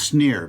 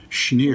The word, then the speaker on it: Schneer: But so I mispronounced it as Sneer, but evidently it's pronounced correctly Schneer.